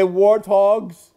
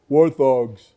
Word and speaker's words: warthog: funeral Hogs are they warthogs you call them warthogs warthogs you're saying it wrong it's warthog hog by itself is a pig